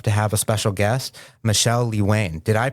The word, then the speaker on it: Michele Lewane: And today we've fortunate enough to have a special guest, Michelle Lee Wayne. Did I pronounce that correctly?